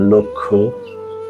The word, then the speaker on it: লক্ষ্য: কোন শব্দের শুরুতে বা আদিতে যদি অ স্বাধীনভাবে থাকে অথবা ব্যঞ্জন ধ্বনির সঙ্গে যুক্ত অবস্থায় থাকে এবং পরবর্তী বর্ণ যদি ষি বা যুক্ত খ হয় তাহলে পূর্ববর্তী অ এর উচ্চারণ সংবৃত হবে অর্থাৎ ও এর মত হবে সম্মানিত সুধী যেই শব্দগুলো